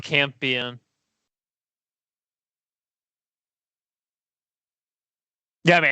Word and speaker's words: Campion: Is it Campion? I thought it was Champion. Whatever. Champion. Yeah, I think it's pronounced Campion.